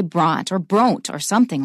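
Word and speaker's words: Brontë: That means you pronounce it as a separate syllable. Without those two dots, if we looked at the name B-R-O-N-T-E, we'd probably say Bront or Bronte or something like that.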